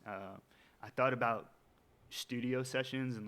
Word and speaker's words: Cession: 90 of the time people get it right session um I would say it's it's pretty Universal